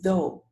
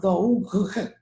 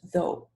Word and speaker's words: though: For instance, number 3, you have 2 letters at the 3 letters at the end, and you don't pronounce them. You say though, not though, just though.